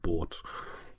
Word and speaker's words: Das Boot: People call Das Boot, but I think it's pronounced more like Boat, but The Boat, which is an amazing film, right?